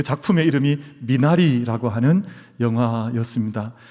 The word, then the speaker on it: 미나리: 받으셨는데 그 작품의 이름이 미나리 라고 하는 영화였습니다 미국 사람들은 비단 이 발음이 안 돼 가지고 맨날 문화 리 이렇게 하거든요 이게 미나리 인데 1 식물이 2 프리